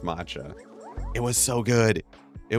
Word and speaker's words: matcha: Uh, but the matcha I I found I am a big fan of all the Japanese matcha treats or maca. I think it's pronounced matcha.